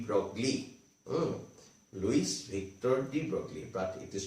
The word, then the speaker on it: de Broglie: france physicist luis victor d broccoli louis victor de broglie but it is pronounced as the broy okay this is known as actually it is